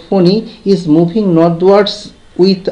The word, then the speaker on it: Fani: that the cyclonic Sturm also pronounced ফোনি is moving নর্থওয়ার্ডস with